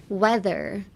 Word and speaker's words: whether: Weather. This weather, the whether or not weather, is the same pronunciation as the climate weather, the W-E-A-T-H-E-R weather.